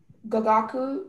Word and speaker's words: gagaku: Gagaku, that's the only pronunciation.